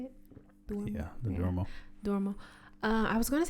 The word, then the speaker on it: Duomo: Yeah, the Duomo.